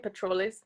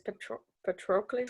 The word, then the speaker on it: Patroclus: I feel like I keep saying Patroclus, but it's Patroclus. Patronus.